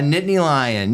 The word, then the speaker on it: Nittany Lion: what is a how do you say it Nittany Lion a Nittany Lion yeah so I I do bleed still a little bit blue and white which is the colors of Penn State Nittany Lions Nittany Lion is a mountain lion from the